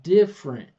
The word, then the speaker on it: different: So, even though we write three syllables camera, we don't say it camera or family. Same thing with different. I hear a lot of different different. That's on the mouth. We're just going to say different.